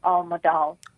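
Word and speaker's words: Almodal: time amazing dresses leo all moldal a-l-m-o-d-a-l leo almadol oh thank you for uh advertising him because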